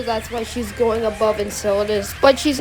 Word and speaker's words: Enceladus: Now, Enceladus is a pretty okay character, and when he was first introduced, Saturn kept mispronouncing his name. I'm not even gonna ask. Enchilada!